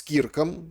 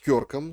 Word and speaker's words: Кёрк: Попрощались с Кирком, или, как правильно говорить, Кёрком, соратником.